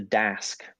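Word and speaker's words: Daask: bribery kind of scenario the second is the das spelled with two a's d-a-a-s-k these are monsters they're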